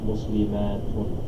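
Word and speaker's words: مُسْلِمَاتٌ: the t is open, muslimatun. Right. So we just said that the ta is not the short one. It says in pronunciation the only difference between the singular and the plural form is length.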